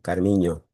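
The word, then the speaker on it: Carminho: Carmiño, que la ñ en portugués se escribe NH, Carmiño.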